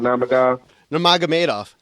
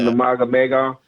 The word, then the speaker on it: Nurmagomedov: How you pronounce his last name? Nurmagomedov. And I'm so glad that I finally learned to say that. Nurmagomedov.